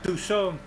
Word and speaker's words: Toussaint: So that was about that, and I guess we will have to get into the fight and get to Toussaint, to pronounce it correctly in French. Toussaint.